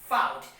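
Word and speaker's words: fought: it is said that if the words end for the letter g h t then g h is becoming silent so f i g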